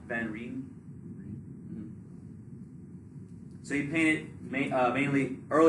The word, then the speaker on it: van Rijn: Van Rijn.